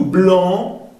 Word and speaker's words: blanc: Tout blanc, no se pronuncia la C.